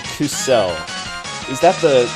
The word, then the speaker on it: kuso: Yeah, because you put the emphasis on the second syllable rather than the first.